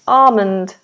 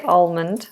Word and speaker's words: almond: which is an Armond so the L is silent Armond Armond um in fact I think I say almond I think I say